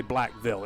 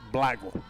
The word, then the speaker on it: Blackville: You don't say Blackville. It's Blackville. Blackville. Blackville. It's like one syllable.